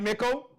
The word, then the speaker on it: Mickle: there she is, my Taurus sister, that Taurus energy with Mickle. did I pronounce it right, Mickle? Yes, Thank so you. it's Mickle, just like Pickle.